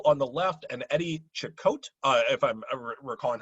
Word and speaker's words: Cicotte: Travis was correcting my pronunciation, Eddie Cicotte there.